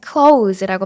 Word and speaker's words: clothes: 혹시 clothes라고 발음하진 않으셨나요? 사실 이 단어는 clothes라고 발음해 주셔야 돼요. clothes.